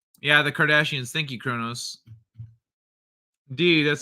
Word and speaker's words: Kardashians: I forgot I was pronouncing it wrong. Yeah, the Kardashians.